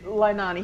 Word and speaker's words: Leilani: Isn't it Lanai Estates? No, it's Leilani. He said it right.